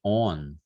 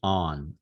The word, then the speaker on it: on: I was saying on. So this is a podcast, but I don't know if people can get the difference, right? Listening, but the wrong pronunciation sounded like on, on, Mhm. on. The correct pronunciation is on, on.